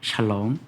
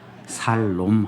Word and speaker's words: 샬롬: 한번 이렇게 인사해 볼까요 샬롬 발음 잘 하셔야 됩니다 살 놈 하면 안 됩니다 우리가 하나님의 평강 하나님의